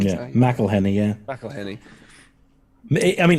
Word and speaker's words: McElhenney: Well, he owns it with Rob McElhenney, isn't it? Is it McElhenney? Yeah, McElhenney.